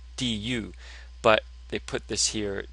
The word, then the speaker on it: 肚: So the actual pronunciation is 肚, du, but they put this here to assist in the pronunciation.